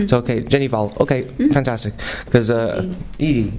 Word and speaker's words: Hval: your your last name it's just Val Val okay worry about the the H okay okay I I've been um saying pronouncing the H uh out of pure uh lack of knowledge I guess lack of Norwegian knowledge so okay Jenny Val